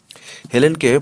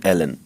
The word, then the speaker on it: হেলেন: আমি তোমার প্রেমকে ভালোবাসি হেলেনকে ফরাসিরা উচ্চারণ করে এলেন বা ফরাসিদের না চটিয়ে বলা যায় এলেনকে ইংরেজরা উচ্চারণ করে হেলেন যাই হোক হেলেনের বদলে